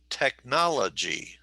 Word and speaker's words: technology: technology technology okay so four syllables technology and where is the emphasis technology yes it's on the second so technology technology okay